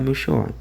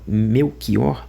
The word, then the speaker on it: Melchior: Agora se não se tá certo escrever com ch e você não fala meu xó, então você tá errado em falar meu xor, né? Agora, se tá correto falar meu Kor, por que que se